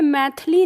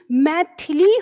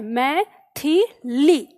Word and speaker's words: मैथिली: हमारा मैथिली ध्यान रखना हम मैथिली बोल देते हैं अक्सर थ के ऊपर की ई को हम गायब कर देते हैं अपने उच्चारण में इस वजह से हमें लेखन में भी गलती होती है तो आपको याद रखना है यह मै ली नहीं मैथिली होता है मैथिली ठीक है तब